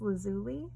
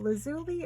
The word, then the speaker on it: lazuli: a piece of lapis lazuli another word that you hear pronounced different ways by different people lazuli or lazuli I always say lazulu I love this antique